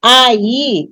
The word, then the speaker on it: aí: não é tônico mas quando eu digo ai eu abro a boca duas vezes né então eu tenho duas sílabas aí a gente usa